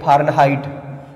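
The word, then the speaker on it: Fahrenheit: अब देखिए फारेनहाइट, science का वर्ड है फारेनहाइट, हाइट नहीं बोलोगे आप, हीट बोलोगे इसको।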